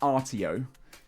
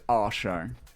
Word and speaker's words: Artio: It's not Artio. It's pronounced our show.